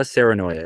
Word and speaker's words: Saarenoja: Alexa Serenoya. It's Alexa. Serenoya is spelled Saarenoja.